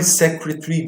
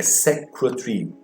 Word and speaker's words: secretary: Então, pronúncia dessa palavra é secretary. 3 sílabas apenas, né? Secretary. Se for americano, ele fala em 4 sílabas, que eu acho um pouco mais difícil, né? Secretary. Até porque, como a gente pode ver aqui, a sílaba tônica é a primeira.